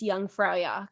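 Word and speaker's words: Jungfrau: spelling um but you know with with the pronunciation it's young frak and it's kind of cool it's like they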